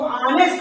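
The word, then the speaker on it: honest: देख रहे हैं एच आ रहा है, बट इसका जो हम प्रोनाउंसिएशन कर रहे हैं वो ऑनेस्ट हो रहा है। क्या हो रहा है? ऑनेस्ट। इसको हम ऑनेस्ट पढ़ रहे हैं क्योंकि आप साइलेंट वर्ड जान चुके हैं कि एच के बाद अगर वो आता है तो एच साइलेंट हो जाता है।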